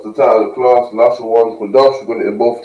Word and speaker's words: Lashawan Qadash: Lashawan Qadash. We're going to in both the English and in the ancient Hebrew. I'm going to get a bit closer so you guys can see. Lashawan Qadash.